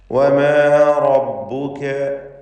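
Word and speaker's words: وَمَا رَبُّكَ: വമാ റബ്ബുക, റാഇന് തഫ്ഖീം കൊടുക്കണം, പൂർണ്ണമായ തടിപ്പിച്ചുകൊണ്ടുള്ള സ്വരഭാരത്തോടെയുള്ള ശബ്ദം നൽകുക. വമാ റബ്ബുക, മറ്റക്ഷരങ്ങൾക്കൊക്കെ തർക്കീഖാണ് എന്നത് ശ്രദ്ധിക്കുക.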